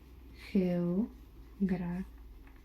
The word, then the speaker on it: geografía: It's kind of like you breathe into it.